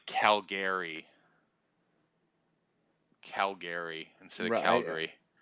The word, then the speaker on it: Calgary: people say it like Calgary Calgary instead of Calgary right I think it's Calgary like that's the